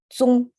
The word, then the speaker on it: 踪: I'm pronouncing it as if it's English, but in Chinese it's zong.